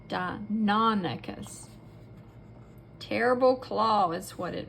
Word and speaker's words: Deinonychus: Deinonychus. Say it with me, Deinonychus. You emphasize or make the middle part the most pronounced sound, Deinonychus.